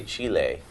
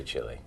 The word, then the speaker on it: Chile: Well, they would say Chile, but they understand when we say Chile.